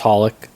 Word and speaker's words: Holic: Is it X Hollik? It's just Hollik.